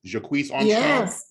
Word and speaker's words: Jacquees Armstrong: But I'm going to go ahead and call and let me know if I'm pronouncing this right. Is it Jacquees Armstrong?